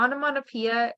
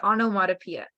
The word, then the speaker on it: onomatopoeia: down and pronounce so the onomatopoeia is just uh pronounced ano and then Ono motto and Pia so just break it down to to that so just onomatopoeia and personifications is personifications